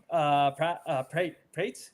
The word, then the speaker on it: Prates: Barnacle Boy, man, you made the pick for what was it, Carlos Prates? Am I pronouncing that correctly? Yeah. Prates, so.